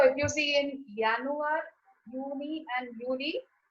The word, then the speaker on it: Juni: So I'm writing with J-U-N-I, but I'm saying Juni.